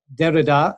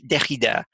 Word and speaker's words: Derrida: on the fact that in English it's not decade' its Derrida and that each language has its own pronunciation so you're absolutely consistent